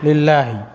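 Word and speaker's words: لله: Jadi beda, kalau ada alifnya itu bacanya Allah, kalau tanpa alif ini kemasukan huruf jar lam, jadi lillahi. Nah, ini jar majrur.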